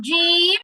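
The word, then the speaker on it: ج: থেকে 3টা হরফ আসছে, জিম, শিম, ইয়া। জিমটা সবাই খেয়াল করেন। জিম তো আমি বলছি উচ্চারণ সহজে বোঝার জন্য আমি বলছি যে বাংলাতে বর্গীয় জয়ের মতো, কিন্তু পুরোপুরি বর্গীয় জ না।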